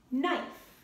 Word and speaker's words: knife: When they go together, That first letter is silent. So you have the word not, new, no, knife.